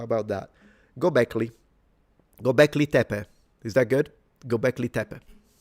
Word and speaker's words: Göbekli Tepe: So, Göbekli, not Göbekli. Okay, Göbekli. Göbekli Tepe.